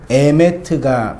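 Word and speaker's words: אמת: 나중에 이 페이지에서 이제 좀 더 공부할 테인데, 알레프는 그 알파벳의 A고, 네모난 것은 알파벳의 M이에요. 그리고 타우는 맨 끝에 있는 건 알파벳의 뭐예요? T예요. 그래서 영어도 에메트가 발음이 되더라고요.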